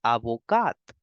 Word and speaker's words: avocat: will say avocat aoca the T in the end is for decoration and in the feminine one the last alphabet is e so you will make the complete sound of T and you will pronounce it as avocat aoka avocat next we